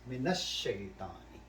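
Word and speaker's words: من الشيطان: this lam sound, which is al, it kills the sound. I say min nash shaitani. Min ash. Lam sound is not there anymore. Now it becomes silent. Say. The silent you can say. Lam is silent. Alif do not pronounce. Min ash. So min will go directly to this.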